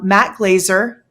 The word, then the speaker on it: Matt Glazer: guest with us um Matt Glazer am I saying that right Matt you're saying it right yeah right on that's